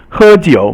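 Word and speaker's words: 喝酒: And so 喝 is first tone, it means to drink. 酒 is third tone, is to drink, as a drink. So it means basically 喝酒 means to drink.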